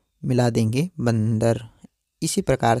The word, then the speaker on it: बंदर: तो आपको किसी भी शब्द के साथ अगर आपको यह जो रंग के ऊपर जो बिंदु लगा है इसका उच्चारण आपको हमेशा म की तरह करना होता है।